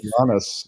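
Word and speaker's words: Kastanaras: And we got how does one pronounce this Greek's name? Kastaranas, I believe. Kastaranas, yes, playing on the right there, with Luca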